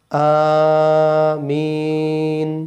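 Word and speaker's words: آمين: ওয়ালাদললিন ওনাদললিন আমিন আ এক আলিফ টান হবে আর মি তিন আলিফটান হবে আমিন আমিন আচ্ছা তাহলে আমাদের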